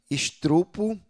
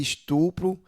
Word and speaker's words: estupro: Estrupo em vez de estupro, aí tem eh cardeneta em vez de caderneta e pneu em vez de pneu.